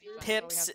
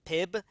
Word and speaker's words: Pip: I was saying it Pib, kind of like the soda, but it's actually Pip. Just like Philip.